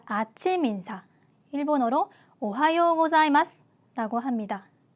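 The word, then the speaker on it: おはようございます: 발음이라고 보시면 됩니다 그러니깐 자가 아니라 Z 발음이 들어가서 자 이렇게 발음을 하셔야 됩니다 자 발음 주의하시면서 두 번 연습해 보도록 할게요 오하요 고자이마스 오하요고자이마스네 안녕하세요라는 인사 존댓말로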